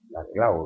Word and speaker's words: Laclau: El mismo Laclau, que se pronuncia así porque no es francés, sino Laclau, portugués, ¿no?